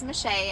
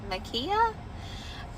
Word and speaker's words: Mishay: Everybody really calls me Shay, but if I spelled it out on here, it would get butchered so bad, like y'all would be like, "Makiya?"